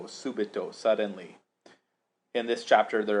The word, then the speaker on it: subito: but here we see an adverb that ends in o a long o subito suddenly in this chapter